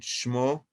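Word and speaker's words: שמה: you see, with hey, but it pronounced O, ishmo. In this case, there is no doubt that the word shema, shin mem hey, should be pronounced shmo, serving as evidence for an ancient spelling practice.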